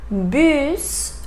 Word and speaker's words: bus: Also, we have some words that we have to pronounce final S. So, for example, bus, bus, fils, fils.